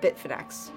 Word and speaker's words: Bitfinex: money and what are the next steps for Bitfinex.